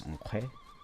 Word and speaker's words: Nkhwe: It has the quail chick, which is a wa sound or u sound, and we pronounce it as Nkhwe.